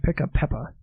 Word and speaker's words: Pickapeppa: i c k a p e p yeah pick a peppa uh yeah it's a jamaican well let's see here it says product of uh pick a peppa co ltd shooter hill jamaica wr west indies